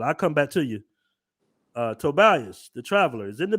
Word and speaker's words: Tobias: I pronounced it right today, right? Tobias. Yeah, Tobias. You did. All right. Yeah, yesterday you was like, yeah, I was like, go ahead. What was I calling you? Tobis.